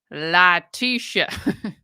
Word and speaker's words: Letecia: accept no objection here it's pronounced Latisha yes goodbye a lot